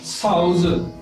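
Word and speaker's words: 嫂子: For sister-in-law, Chinese word is saozi, S-A-O, sao, sao. If I put z, Z-I, z, it becomes saozi.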